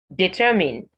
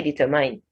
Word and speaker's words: determine: say colleague not colleague determine determine this word is stressed by its second syllable on ter now don't say determine not i it in determine develop same as determine